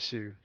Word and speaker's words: Shu: You have You can say shoe. We pronounce it as shoe.